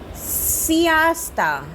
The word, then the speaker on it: siesta: Take a सियास्ता, SIESTA, सियास्ता। क्या pronunciation है? सियास्ता।